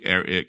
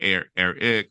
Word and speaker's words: Air-Ik: So AIR-IK, Eric. You can say it like Eric or Eric, however, back when we created